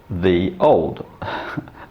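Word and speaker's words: Ye Olde: like ye oldie but it should be pronounced the old same as we would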